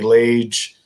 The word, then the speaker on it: Lage: my name which is lage like cage or page l-a-g-e is how it's spelled um